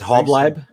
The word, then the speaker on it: Halbleib: How do you say it? Really. It's Halbleib. Halbleib? Halbleib, yeah. Like Halbleib.